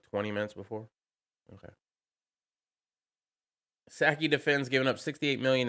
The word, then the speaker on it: Psaki: I don't know it's a silent P.